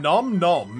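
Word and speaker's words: Phnom Nonh: you come from far far away welcome to phenom none from nom nom is how you say it first i should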